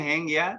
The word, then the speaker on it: Hangya: लिखते हैं हेंगया लेकिन इसको प्रोनाउंस करते हैं हंग्या।